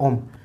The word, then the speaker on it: ओम: हमने इसमें आर्ट और ओम ओम बेसिकली जो हमारा हिंदू धर्म में ओम है उसका मतलब जो प्रॉपर जो प्रोनाउंसिएशन है उसका है AUM, ओम।